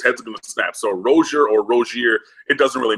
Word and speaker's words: Rosier: Rosier, correct? That's what he said, but you know, my full name is, but people call and.